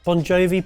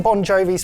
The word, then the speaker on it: Bongiovi: So John Bon Jovi's father was of Italian and Slovak ancestry. The name Bon Jovi, which is actually spelt correctly on the label, is only the band that's spelt almost phonetically.